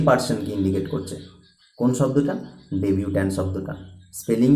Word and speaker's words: debutant: ডেবিউট্যান্ট। দুটো ওয়ার্ডের প্রোনাউন্সিয়েশনই কিন্তু ডেবিউট্যান্ট হবে, কিন্তু একটা ওয়ার্ডে একটা এক্সট্রা বসবে। সেটা কি? DEBUTANT, যেটা ডেবিউট্যান্ট, এটার প্রোনাউন্সিয়েশনও ডেবিউট্যান্ট হবে, কিন্তু এটার মিনিং কি হবে?